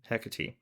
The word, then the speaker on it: Hecate: The concept as far as I could find probably started back in Greece where um Hermes and Hecat Hecat there you go.